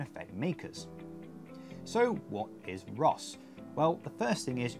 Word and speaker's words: RoHS: makers so what is Ross well the first thing is you're going to hear some people pronounce it as Rush they're wrong it's Ross RoHS not our own